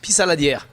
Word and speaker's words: Pissaladière: Pissaladière. Pissaladiera.